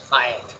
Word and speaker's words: fiat: The word is pronounced fiat.